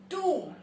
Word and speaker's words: tomb: इसको हम कैसे बोलते हैं? टूम्ब. The correct pronunciation is टूम्ब.